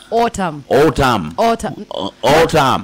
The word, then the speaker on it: autumn: It's A-U-T-U-M-N. That is autumn. Autumn. There's an N at the end. There's no O.